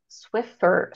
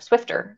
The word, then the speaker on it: Swiffer: a Swiffer with this like a Swiffer cloth Swiffer swifter Swift swifter you said it right Swiffer okay